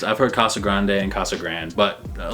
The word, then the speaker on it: Casa Grande: Casa Grande is Casa Grande, not Casa Grande. Now I've heard it both ways. I've heard Casa Grande and Casa Grande, but a lot of people say Casa Grande because we're white.